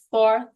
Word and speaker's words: fourth: that's right did it fourth and then do like this the th between your tongue Fourth of July yes